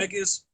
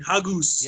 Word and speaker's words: haggis: haggis Haggis. You're saying it with the U. Mm, You're saying hagus.